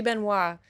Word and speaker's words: Benoist: tell me for sure I think you pronounce it Ben was right Benoist Beno it should be Beno but I I saw